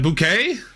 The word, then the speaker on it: Bouquet: Carol, is that Bouquet? Yeah. I I would would assume so. Yeah. Okay. It's spelled like bouquet. I mean, that's how bouquet is.